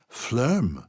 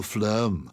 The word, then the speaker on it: phloem: do you spell that it sounds a bit like phlegm which is why it's really not very nice it's p-h-l-o-e-m phlegm p-h-l-o so when you're